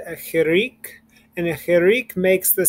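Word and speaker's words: חיריק: you see a chirik, they might pronounce it more like hirik, and it makes more of an I sound, almost like an I instead of an E. I've heard Israelis say, an Israeli teacher said to say chirik, and that you have to kind of smile, and that's how you know you're saying it correctly.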